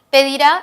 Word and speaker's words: pedirá: Pedirá es un verbo. Este verbo es agudo, el acento está en la última sílaba, pedirá.